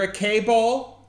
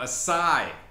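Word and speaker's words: açaí: yeah how's your okay I'm sorry what you're a cable is it good oh acai acai Bowl it's actually really good can I get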